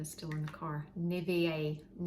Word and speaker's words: Nivea: Nivea, I say Nivea.